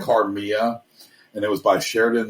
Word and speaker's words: Carmilla: And it was probably the impetus for him to write a story about it's pronounced Carmilla. It's spelled like Carmilla.